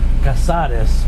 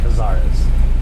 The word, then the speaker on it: Casares: It's Casares, but in English you could say Cazares.